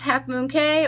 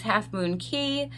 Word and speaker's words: Half Moon Cay: I'm pretty sure the correct way is Half Moon Key, but I've heard it said so many different ways.